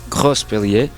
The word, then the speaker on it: Grospellier: Ao meu lado está um colega europeu, o francês ElkY, Bertrand Grospellier.